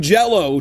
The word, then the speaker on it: Jellÿ: It's spelled jelly, but it's pronounced jello still cuz there's those um lots above the Y.